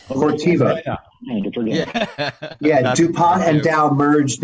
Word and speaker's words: Corteva: Now it's starts with a C, 3 syllables. Corteva.